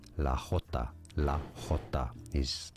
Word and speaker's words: jota: This is the name given to the letter J in Spanish. They don't call it J, of course, they call it Jota. La Jota.